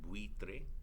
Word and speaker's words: buitre: And then and then two weak vowels together also form a diphthong, like buitre, ui, buitre. That means vulture, right? That's one syllable, bui.